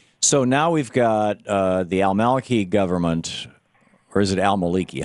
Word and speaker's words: al-Maliki: So now we've got the al-Maliki government.